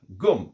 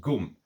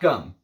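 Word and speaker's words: ГУМ: store in Moscow that is called goom I believe it's g period U period M pronounced goom not gum some of some of the my Russian patrons made sure to to correct me on that it is not sealed de gum it is sealed deom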